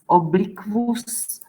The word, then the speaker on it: obliquus: ku and u, and we pronounce as kv, qualitas, obliquus, liquor, quadriplegia.